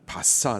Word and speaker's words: 바사: 페르시아 나라를 말하는 겁니다. 바사 나라, 성경에서는 바사라고 발음을 하고 있는데요.